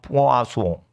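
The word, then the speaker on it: poisson: 프랑스 발음은 포아소.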